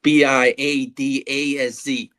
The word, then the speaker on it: Biadasz: It's Biadasz, but I'm just going to call him the Badass.